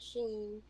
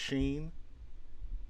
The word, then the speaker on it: Shein: I haven't tried Sheen.